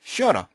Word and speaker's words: shorter: 보통 요 t가 양쪽 모음 사이에 있죠. 그래서 이것은 t 혹은 l 발음은 나게 됩니다. 그래서 상당히 많은 경우에 shorter, shorter 이렇게 발음되기도 하죠.